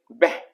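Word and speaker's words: به: लेकिन जब इसे हम एज ए एडजेक्टिव प्रयोग करेंगे तो इसे हम उच्चारण करेंगे बे।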